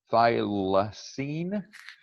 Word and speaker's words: Thylacine: It's called Thylacine, if I'm pronouncing it.